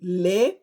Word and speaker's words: le: The Igbo word for today is going to be le. Le means look. Le, I'll spell it in English. L-E-E. In Igbo, le, e.